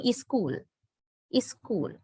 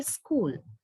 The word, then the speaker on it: school: take it like, okay, when you pronounce a consonant cluster, don't use the sound E, the vowel sound E at the beginning. Now, in Srilankan English pronunciation, you may have heard it, right? The people are telling is school, but the correct pronunciation should be school,